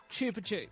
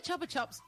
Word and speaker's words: Chupa Chups: You westerners pronounce it wrong. It's pronounced chupa chups. Ah, where does where do chopper chops chopper chops originate from?